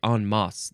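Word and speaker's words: en masse: enliven it up Bo the next word is on MOS or on mass or nmass Nas I feel like on MOS that's the proper way to say it e en is the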